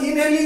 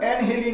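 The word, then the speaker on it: inhaling: করে ইনহেলিং and excelling উচ্চারণটা ইনহেলিং আমরা বলি ঠিকই সঠিক উচ্চারণটা এনহেলিং হয় হবে এনহিলিং অর্থাৎ শ্বাস গ্রহণ বা বর্জন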